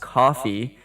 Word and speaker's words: Ko-fi: I didn't know it's pronounced coffee, KO-FI.